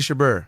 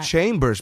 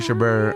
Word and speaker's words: Chabert: yeah Lacey Chabert her its chambers or something like not chambers man I hear her her name pronounced all the time she's a hallmark movie star I in a stash the home of movie star it's not chambers because she was in